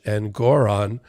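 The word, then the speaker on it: Engoron: sanctions with judge and Goron that's how you pronounce it judge and Goron uh this week and we're gonna see this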